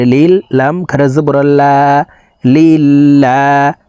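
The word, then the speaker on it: لِلَّهِ: লাম খারা জবর আল্লা লিল্লাহ আল্লাহ শব্দের আগের হরফে জের আছে এই কারণে লাম কে পাতলা ভাবে অর্থাৎ লা বলেই পড়তে হবে লিল্লাহ হাজেরহি লিল্লাহি আলহামদুলিল্লাহি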